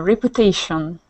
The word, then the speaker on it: reputation: next one one uh reputation so we say that almost as if there was a y in there we say it like repu reputation reputation reputation perfect reputation